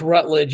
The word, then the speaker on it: Routledge: And then Cody Rutledge, and it's pronounced Rutledge, even though it's spelled Routledge, just so people know.